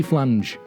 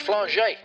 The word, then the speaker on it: Flange: a chiropractor called timothy flange it's pronounced flaget actually kevin i don't